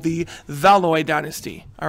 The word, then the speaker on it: Valois: up there all right uh how do you say Valor all right let's just check this out guys I'm just I was lying guys so the monarchs of France are called the valois Dynasty valois is their last name